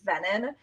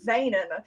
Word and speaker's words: Venen: Um, I usually just go by, but my last name is pronounced Venon.